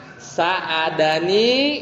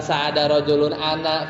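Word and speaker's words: ساعدني: Nah, ananya itu kalau jadi objek bukan ana, tapi bacanya ni. Dan ditaruhnya sebelum rajulun. Jadi bacanya sa'adani gitu ya.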